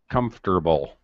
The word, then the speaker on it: comfortable: It kind of sounds like comfortable. Sounds like this arithi comfortable. Uh, yes. We just don't pronounce the or in the middle. Comfortable. We don't say that. This is important because this